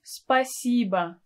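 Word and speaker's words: спасибо: spiciba by shoye you can add a pronoun spa siba tibia so you can use any word order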